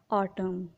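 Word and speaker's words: autumn: अगर किसी वर्ड में एम के बाद एन आता है तो एन साइलेंट होता है। For example ऑटम।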